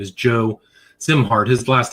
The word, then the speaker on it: Szimhart: His name is Joe Zimart. His last name is spelled S Z I M H A R T pronounced Zimart.